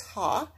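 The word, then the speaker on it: ה: this is a prefix it says ha you pronounce this ha and it means the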